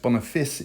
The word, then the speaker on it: Boniface: we have the sister boniface mysteries it's actually pronounced bonafis in the show don't know why some dazzling media it's